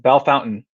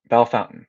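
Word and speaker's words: Bellefontaine: this game oh awesome bellafontaine ohio is pronounced belle fountain lima ohio lima ohio is pronounced lima okay bellefonten bell fountain okay ohio and then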